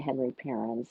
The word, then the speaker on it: Parens: And he pronounced it, that was his name, but he pronounced it Henri Parens.